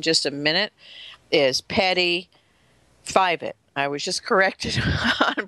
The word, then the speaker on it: Fievet: I'll introduce in just a minute is Patty fivet I was just corrected on pronouncing her last name it's a toughy Patty